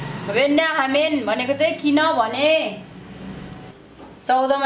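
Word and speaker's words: 왜냐하면: वेन्या हामेन भनेको चाहिँ किन भने, 14 हेर्नुहोस्, पुरनिक्का त्यस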